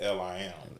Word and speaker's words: Liam: You know, so I wanted mine to just be like, it's spelled Liam, but you pronounce it Lim. Lim.